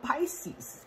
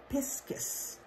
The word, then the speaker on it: Piscis: Anyway, back to Vesica Pisces, or Piscis is how it's pronounced.